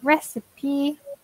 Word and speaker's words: recipe: be careful with pronunciation so rest if P three syllables receipt two syllables say a recipe and receive it excellent